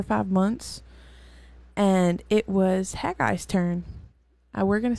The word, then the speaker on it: Haggai: past four or five months and it was haggai's turn uh we're gonna say that haggai because I have no other pronunciation for it um that's actually the proper pronunciation good I've heard like hey guy and I had an old pasture it used